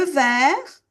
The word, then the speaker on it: vert: Le jaune le vert. Le t mué. On ne prononce pas le vert.